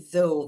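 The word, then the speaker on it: though: sou sou sou sou Quer dizer então, esse zou, você só vai falar até aqui, né? Você não fala o som ali do gh, o gh não tem som nesses casos.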